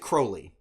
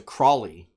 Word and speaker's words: Crowley: Crowley they pronounce it Crowley they pronounce it Crowley okay as opposed to Crawley so it's never like